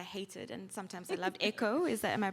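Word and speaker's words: Èkó: In your book, Eloghosa, the spirit of Lagos, who sometimes I hated and sometimes I loved, Echo, am I pronouncing correctly? Yeah, Echo.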